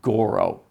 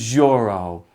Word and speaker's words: Joro: And he said, "No, it's Joro."